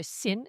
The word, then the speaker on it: Sin: Ensuite dans le désert de Sin, CS S I N prononcé Sin et puis ils étaient à Ridim où toutes ces activités ont eu lieu.